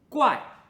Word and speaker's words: 夬: 它发音怪，怪，它的意思是